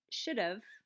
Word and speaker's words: should've: In the first example, should've, I've dropped the ha sound in have. I'm just pronouncing v. So should have becomes should've.